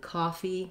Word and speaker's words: khaki: So, letter o in cocky is going to say the ah vowel. That's the IPA, I write it rewrite it as a h to help you think about that open back vowel, ah. And then again, there's our lax little unstressed um still tense, but unstressed e. And then then khaki, we have the black cat vowel, and usually I just